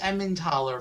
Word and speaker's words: Emmentaler: A nice Emmentaler, possibly. Because that's apparently how it's pronounced. I mean, that sounds basically like how I expected, except taller instead of thaller.